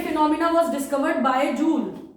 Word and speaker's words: Joule: एंड क्योंकि ये phenomena was discovered by जूल और जाउल, pronunciation depends on यू, तो this is also known as जाउल्स लॉ of heating.